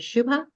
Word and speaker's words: Shuba: I'm mispronouncing your name is it Shuba yeah it's Shuba hi um so I